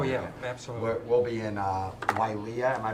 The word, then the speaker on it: Wailea: We'll be in Wailea. Am I pronouncing it correctly?